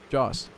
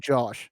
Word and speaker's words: Joss Whedon: Yeah, Joss Whedon. Joss. He made all the stuff with Joss Whedon. You're saying Josh.